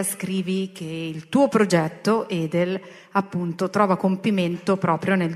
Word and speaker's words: Edel: Allora, io gli avevo promesso che l'avrei pronunciato bene il nome con la E chiusa e non con la E aperta alla toscana.